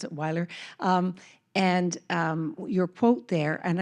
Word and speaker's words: Weiler: I pronounce it Weiler.